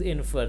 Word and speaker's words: infer: It is infer. The stress as in the word imply is on the second syllable of infer means to deduce or conclude.